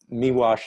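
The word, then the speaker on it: Miłosz: called incantation um uh me wash is spelled m-i-l-o-s-z it's polish you know chess wall same same unusual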